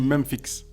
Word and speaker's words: Memphix: Ouais, parce qu'en fait, je sais pas si c'est Memphis, mais je sais que, mais vu que ça s'écrit Memphix, Ça se dit Memphix.